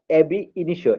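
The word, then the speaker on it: ab initio: আচ্ছা, ট্রেসপাস বা trespass এবি ইনিশিও, এটা উচ্চারণ হবে ট্রেসপাস এবি ইনিশিও।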